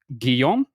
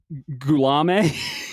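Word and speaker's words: Guillaume: I don't want to know, but it it's pronounced Guiam Barro Barro. Guom bar. Okay. Uh, I think I said Gulame or some like that.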